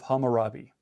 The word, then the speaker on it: Hammurabi: In the reading that you guys have been playing with, you've seen something called the Code of Hammurabi. I think that's how it's pronounced, Code of Hammurabi.